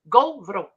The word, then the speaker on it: Gauvreau: Gauvreau. Gauvreau. Okay, y'all remind me of that and spell it the way it's Gauvreau. Yeah. Bless you. Because AU in French is O and EAU is O.